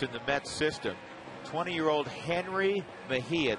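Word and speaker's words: Jenrry Mejia: the Mets system 20-year-old Henry Mahia that's how you pronounced that first name Henry he throws very hard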